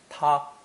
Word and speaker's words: 它: This character later split into two different ones, one for humans and one reserved for things, both pronounced first tone, ta.